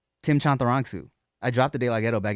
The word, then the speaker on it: Chantarangsu: Give me the pronunciation one more time. Chantarangsu. Chantarangsu.